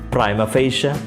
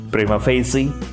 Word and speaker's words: prima facie: also from latin language it has no definite pronunciation at the same time there are a few acceptable pronunciations such as primophasia primophasy etc the meaning of prima